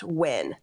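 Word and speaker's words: Nguyen: to point out that ngu y n is pronounced wi thank you J thank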